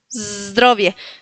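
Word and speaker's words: zdrowie: Zdrobie. Ven que digo la z drobie. Sí. Eh, recuerden de hacer ese sonido como de una abeja. Zdrobie.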